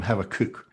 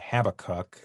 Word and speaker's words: Habakkuk: And I'm going to persist in calling him Habakkuk, which is the Hebrew pronunciation, because I just find it easier to say. And I might wind up saying Habakkuk, so we'll see where we go from there.